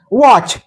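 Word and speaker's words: watch: आहे डेट बी silent वॉच या शब्दात टी सायलेंट आहे वच लिसन लिसन या शब्दात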